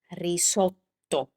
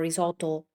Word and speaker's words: risotto: So, when you see a double consonant, what you need to do is to try to hold the sound slightly longer. That's the easiest way to make a double sound consonant in Italian. Per esempio, let's do this here. Uh questa parola. This is risotto. Risotto. So, try It's not risoldo or risoto, risoto.